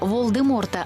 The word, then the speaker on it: Волдеморт: каже ім'я головного злодія волдеморта лише вона вимовляє правильно насправді літера т в його імені не вимовляється правильно волдемор та найголовніше Гаррі Поттер